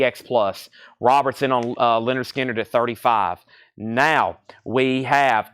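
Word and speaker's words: Lynyrd Skynyrd: for you next is Leonard skinnard pronounce Leonard skinnard this is going up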